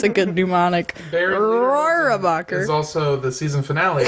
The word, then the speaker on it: Rohrabacher: Rohrabacher.